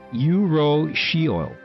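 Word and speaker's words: urushiol: Pronounced yurro oil.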